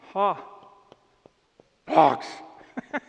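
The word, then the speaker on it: ἅπαξ: Alpha, ha, the hard breathing, hapax, which you would pronounce, ha, pox.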